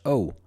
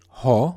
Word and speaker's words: ho: a simple o o it is written ho o but the H is not sounded like in English doesn't you would not say ho but o o in Italian o it is written ho